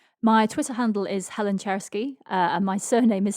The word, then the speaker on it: Czerski: to say hello my Twitter handle is Helen chery uh and my surname is spelled CZ r s k i there's only